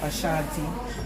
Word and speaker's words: Ashanti: The Ashanti, make sure I pronounce it right, yeah. Ashanti, that's very good.